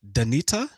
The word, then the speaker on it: Danita: Is it pronounced Danita? It is, yes, you got it right.